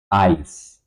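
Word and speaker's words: Eis: Like for example my I the Y is quite pronounced like this sound in German like the combination of E I in German. Ice.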